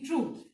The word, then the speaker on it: troupe: Then the sixth one, the troop, T-R-O-U-P-E, troop. Now students, all of you should know the difference between T-R-U-P-E, troop and T-R-O-O-P-E, troop. दोनों ही collective noun है, pronunciation same है, But the spelling is different.